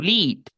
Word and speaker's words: lead: De hecho, esta palabra tiene dos pronunciaciones. ¿Qué dice aquí como verbo? como el verbo liderar. ¿Cómo suena en el verbo liderar y en este sujeto? Y larga, ¿cierto? To lead.